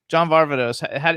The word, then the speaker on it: John Varvatos: do you how do you how do you pronounce barbados john varvatos what's the correct pronunciation that's exactly you just